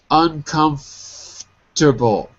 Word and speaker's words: uncomfortable: uncomfortable uncomfortable that's it so notice that we don't say all of the S all of the syllables we drop one of them not uncomfort not uncomfort oh my God I can't even say it the wrong way uncomfortable too many syllables uncomforable we say it like that uncomforable uncomfortable that's it